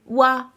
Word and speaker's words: は: Donc la particule qui s'écrit ha, mais qui se prononce bien wa.